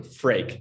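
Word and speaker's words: Freek: how to pronounce it it's like drake the famous artist but with an f so freak that's like the closest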